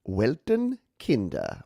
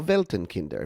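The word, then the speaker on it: Weltenkinder: friend out of germany welton kinder or veltenkinder if you want to use correct pronunciation and uh wilton kinder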